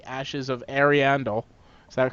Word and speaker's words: Ariandel: Dark Souls 3 Ashes of Ariandel. Is that correct? Is that right pronunciation?